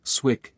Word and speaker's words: SWCC: She was a retired naval special warfare combatant craft crewman operator, SWCC, pronounced Swick, in Navy slang.